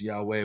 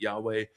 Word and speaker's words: Yahweh: And again, we're not sure how exactly it's pronounced. Our best guess is Yahweh, which when you say it in Hebrew sounds a lot like breathing, especially if you say it slowly. Like I remember Rob Bell